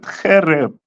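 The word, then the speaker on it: חֶרֶב: It's going to give me Karab, right? That's the most common word for sword. That's the word you would use. Okay. They pronounce it Khereb.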